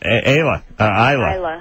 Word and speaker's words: Isla: Well, it was supposed to be pronounced, but my dad kind of pronounced it wrong.